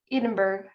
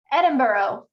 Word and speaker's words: Edinburgh: you said in marrow edinburgh edinburgh edinburgh that's how we say it i swear i know